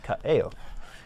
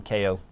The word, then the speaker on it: Kaeo: Kaeo is Hawaiian, so his name is Kaeo. Some people call him Ko. That's wrong. Don't do that.